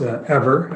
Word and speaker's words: Eivor: Yeah, we're pronounced ever as an energy forever. Everyone makes the same mistake.